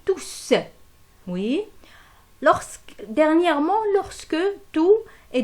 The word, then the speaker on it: tous: Elle s'écrit tous et ce S-là, il s'entend à l'oral. Alors, lorsqu'on a S, on dit tous.